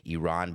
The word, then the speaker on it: Iran: the USA playing against Iran and I'm only saying it correctly because I learned yesterday during the press conference I've been saying I ran like Flock of Seagulls my entire life exactly